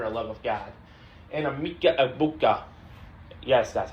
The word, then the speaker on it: Emeka Egbuka: And Emeka Egbuka.